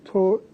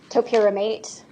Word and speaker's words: topiramate: Was she prescribed TORPIRAMAATE? Yes. How do you say that? Topiramate.